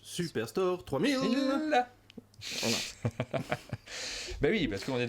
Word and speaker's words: Superstore 3000: te reprendre tout à l'heure mais ça se prononce superstore 3000 mais oui parce qu'on est dans un supermarché